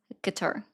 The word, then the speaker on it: Qatar: Is it going to offend you if I say Qatar? Isn't it Qatar? I actually watched a video on this today that it is Qatar.